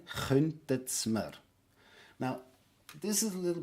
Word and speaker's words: könntet Sie mir: So we have the könntet Sie mir, which will be glued together as you pronounce it as one word, könntet's mir. Again, könntet's mir.